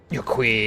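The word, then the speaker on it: Yok Huy: Yokhui, that's how you pronounce them.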